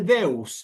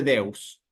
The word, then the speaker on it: Deus: de Dios es simplemente Deus, no tiene ningún cambio. No hay que agregarle nada ni sacarle nada. La E la leo como una E y la U la leo como una U.